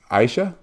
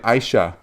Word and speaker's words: Aisyah: is your name pronounced Aisha yes with an so an sh sound like Aisha yes beautiful and say